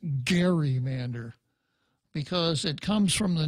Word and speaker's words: gerrymander: 2010 grotesquely gerrymander congressional districts now the word gerrymander actually should be pronounced gerrymander because it comes from the name of a